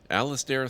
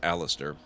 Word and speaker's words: Alistair: seek out ARL aan Alistair thinks that you should seek out that I don't know why I always pronounce it that way it's Alistair Alistair thinks you should seek